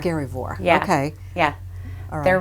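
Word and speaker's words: Skerryvore: Scaryvore. Scaryvore.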